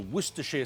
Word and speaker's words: Worcestershire: We need a good few glugs of Worcester sauce or Worcestershire sauce or Worcestershire sauce, however you want to pronounce it.